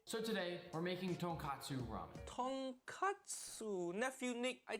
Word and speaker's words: tonkatsu: So tonkatsu ramen makes sense. It pop bone ramen. But katsu mean cutlet. So tonkatsu mean fried piece of pork.